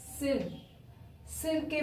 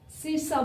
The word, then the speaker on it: circa: इसको हम क्या बोलेंगे, मोस्ट ऑफ पीपल इस सिर के बाद ये जो CA है इसको क्या स्पीक करते हैं, उनकी प्रोनाउंसिएशन ही वो गलत करते हैं। वो क्या करते हैं, इसको बोलते हैं, इसको सिरसा बोलते हैं, बट एक्चुअली में ये सिरसा ना होकर ये सिरका है।